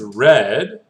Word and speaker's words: read: met now read the past tense of read is red but the r the the way we write that is the same r e a d so no change on the writing only the pronunciation read read and take turns into